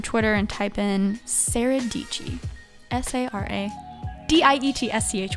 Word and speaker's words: Dietschy: thanks for having me and that was Sarah deechi hope you guys like this podcast I sure